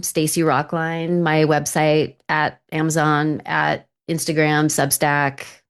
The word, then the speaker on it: Rocklein: It's rock line like you know standing in a line, but it's spelled L E I N.